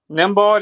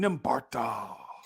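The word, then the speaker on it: Nembhard: Nimbard is him. That's another dude. He's him. I was calling him Nimbarda. Yeah, his name got the unnecessary H.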